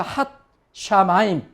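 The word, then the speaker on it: הַשָּׁמַיִם: 그 다음에 여기 경강점이라 그랬죠. 이중점. 시읒이 두 개라 그랬죠. 그래서 핫 샤마임.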